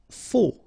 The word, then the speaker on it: faux: Faux. Okay, final X not pronounced, then you get this AU together. O, faux.